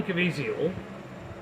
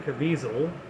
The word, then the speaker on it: Caviezel: a false narrative um Jim caviezio or Jim Caviezel but however you want to pronounce it they pronounce it cavisil on the news even though it's kind of easy Vizio um he is a